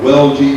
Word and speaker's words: Welge: Augustus Koch, there are the views that he drew of places, and this is Belga, or Welge, as most of them pronounce his name.